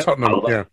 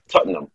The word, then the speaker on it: Tottenham: That's right, Tottenham, Tottenham, I loved it.